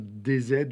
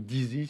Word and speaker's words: DZ: Ce sont des faits qui concernent Amir DZ ou Dizi, si on prononce à l'anglaise, un influenceur algérien qui est un opposant notoire au régime.